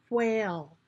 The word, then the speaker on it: whale: Okay, so whale is W, H, making one sound. Whale. A, there's a C in the A. O. O. And then there is a silent E at the end, making that A have a long vowel A sound, making it say its name.